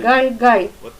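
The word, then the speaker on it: גלגל: course of Hebrew, so I will pronounce correctly the word Galgal. The vortex in Hebrew means Galgal, and Galgal is incorrect Russian pronouncing, such as Jesus instead of Yeshua. That's why we shall say Galgal.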